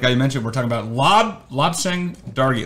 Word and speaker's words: Lobsang Dargey: And today, like I mentioned, we're talking about Lobsang Dargey. Lobsang Dargey. I've heard it pronounced at least 4 different ways.